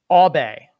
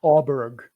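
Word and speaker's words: Åberg: this sean you told me earlier about it obey that is how it's pronounced in sweden it's not auburn or ebert albay pontus abe okay victor lodine andrew agus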